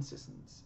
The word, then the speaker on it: Sissons: Colton Sissons out of 249 base rookie. Because apparently that's how it's pronounced and it still sounds weird to me.